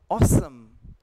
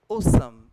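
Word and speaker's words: awesome: तो आप उसको पढ़ेंगे अगर आप यूके स्टाइल में पढ़ रहे हैं तो आप उसको ओ पढ़ेंगे और अगर आप उसको यूएस स्टाइल में पढ़ेंगे तो ओ ओ एंड ऑ तो ये शब्द हो जाएगा ऑसम और ऑफुल यूस स्टाइल में और ब्रिटिश स्टाइल में हो जाएगा ये ओसम एंड O full ट्स how they से ओसम एंड O full in द यूएस UK style US style it will be awful and ऑसम okay we'll move to द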